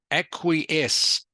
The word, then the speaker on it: acquiesce: Acquiesce, pronounced acquiesce.